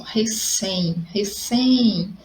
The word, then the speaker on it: recém: Olha só, recém. Então, a sílaba mais forte é o sem.